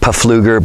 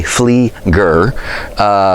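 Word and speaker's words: Pflueger: Most people pronounce it Pafluger, but it is actually Flieger.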